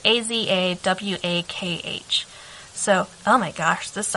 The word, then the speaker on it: Azawakh: The Azawak dog. It's Azawakh.